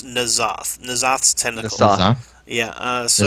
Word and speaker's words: N'Zoth: I'm going to hand this to Cinder to see if he can pronounce this. It's N'Zoth.